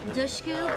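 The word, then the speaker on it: Dushku: things Elijah was the perfect pick that's Elijah dusu pronounced like push dush Eliza I love what she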